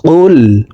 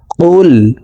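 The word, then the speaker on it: قُلْ: জিব্বার গোড়া তার বরাবর উপরের তালার সঙ্গে লাগাইয়া উচ্চারণ করে পড়িতে হয় তো এই পেশওয়ালা কফটি জজমওয়ালা লামকে একবার ধরবে কফ লাম পেশ কুল কুল হা পেশ হু ওয়াও লাম জবর ওয়াও লাম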